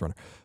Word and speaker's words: Run/r: It's Run/R, by the way, but it's pronounced Runner.